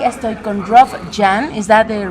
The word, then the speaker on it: Jahn: Perform Go, organizado por Dynatrace, y estoy con Rob Jahn. ¿Is that the right pronunciation?